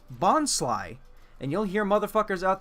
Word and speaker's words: Bonsly: And its pre-evolution is called Bonsly, and you'll hear motherfuckers out there say Bonsley. As if it's not a combination of bon from bonsai, sly as in sneaky, bonsai, sly, bonsai, bonsly.